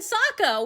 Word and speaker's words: Sokka: It's like, no, it's Aang and Sokka.